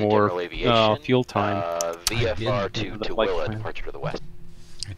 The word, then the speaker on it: Tooele: Oh, he just said Tooele. That city that we were talking about how to pronounce earlier. That guy's going VFR to Tooele. Thule, as some would incorrectly announce.